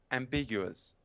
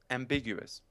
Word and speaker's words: ambiguous: it's ambiguous right correct it is ambiguous the stress is on the second syllable ambiguous ambiguous and in today's show